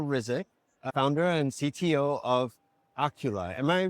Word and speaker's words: Oculi: Charbel Rizk, founder and CTO of Oculi. Am I pronouncing that correctly? Correct, yes. Now you spell that O-C-U-L-I, Correct. Oculi.